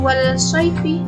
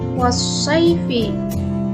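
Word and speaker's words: والصيف: Kemudian contoh yang kedua, bukan wal-sayfi tapi was-sayfi.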